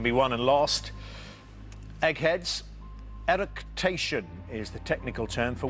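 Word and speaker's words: eructation: Erication is the technical term for which bodily function?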